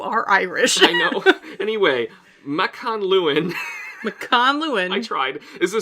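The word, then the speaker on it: Mac an Luin: I found it. You found it? McConluin. There's no N there.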